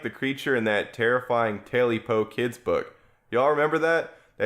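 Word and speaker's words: Tailypo: If you want to look it up, it's spelled tail and then Y-P-O, Taily Po.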